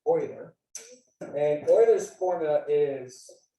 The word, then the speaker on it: Euler: spells it looks like euler but it's actually pronounced euler and euler's formula is how we can tell